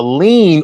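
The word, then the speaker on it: lien: It's not that it's not spelled that kind of lean. It's spelled L I E N. L I E N. Lean.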